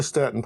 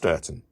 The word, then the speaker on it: Stourton: And yes, it's pronounced Stourton. I think.